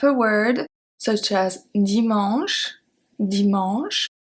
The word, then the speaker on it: dimanche: We have the silent E, which is usually at the end of a word, such as dimanche, dimanche. We don't say dimanche E, don't say that. We say dimanche.